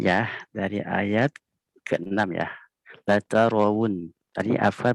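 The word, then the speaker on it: لترون: Latarawun. Tadi Afkar bacanya latarawun. Harusnya bukan rawun ya. Wu. Pakai waw. Latarawun. Wu ya. Bukan wawun. Wu. Tapi latarawun. Bukan wawun ya.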